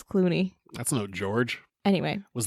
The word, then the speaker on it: Cluny: I called it Cluny. Evidently, it's Clooney.